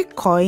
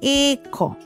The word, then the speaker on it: ịkọ: Ịkọ. Remember what I said before. When you see a dot, remember the pronunciation in ink. Ịkọ. Ink. Ịkọ.